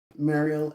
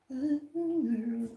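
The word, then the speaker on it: Myrlie: Let me look it up so I can say it right. Meryl Evers. Okay.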